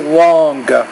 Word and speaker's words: long: Pon no snow igma long thing now usually when you say long you don't really have to pronounce the g at the end just say long so you don't have to say long just say long think